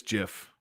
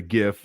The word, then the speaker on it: GIF: The inventor of the GIF just died, and he pronounced it like Jif peanut butter.